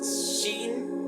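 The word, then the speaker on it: שין: dientes decimos Shin y para decir el nombre de la letra tenemos que soplar muy fuerte inténtelo conmigo sh una vez más tenemos que soplar a los dientes de enfrente para poder pronunciar la letra entonces Shin esta letra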